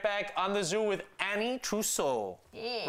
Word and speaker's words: Ana Trousseau: We're going to go to commercial and we'll be right back on the Zoo with Ana Trousseau. Yeah. Right? Did I pronounce it right? Absolutely. Ana Trousseau.